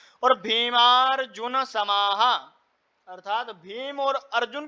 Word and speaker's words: भीमार्जुन: अत्रशुरा महेश्वासा अत्रशुरा महेश्वासा भीमार्जुन समायुधी भीमार्जुन समायुधी यहां पर जा के ऊपर भी लगा र लगा हुआ है तो र जो है वह अक्षर से पूर्व में उच्चारण करा जाएगा जैसे भीमार्जुन समायुधी है ना म के बाद में र का उच्चारण होगा तो भीमारुन समायुधी युधो